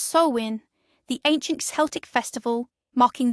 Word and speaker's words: Samhain: It is Sam Hine, pronounced Sowin, the ancient Celtic festival marking the end of summer's warmth and the solemn ushering in of winter's chill.